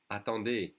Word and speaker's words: attendez: And in the plural or formal would be attendez, attendez. Remember the easy is pronounced E. Attendez.